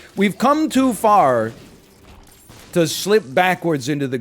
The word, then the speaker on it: pho: you say Pho and then they go what's far you go oh it's like a Vietnamese noodle